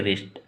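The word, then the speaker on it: wrist: heal heal इसको बोलेंगे रेस्ट डब्लू का उच्चारण नहीं करेंगे सिर्फ रेस्ट आर आर आई एस टी माने उच्चारण होगा ठीक है रेस्ट इस प्रकार से इसको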